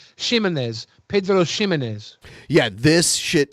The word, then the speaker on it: Ximénez: Is it Pedro Ximénez or Jimenez? I don't know how it's I pronounced. think it's an H sound. Okay, so especially because you pronounce it Shay. Ximénez.